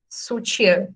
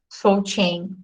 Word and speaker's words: soutien: pronúncia da palavra, porque essa palavra aqui em francês se lê sutiã, né? E não soutien.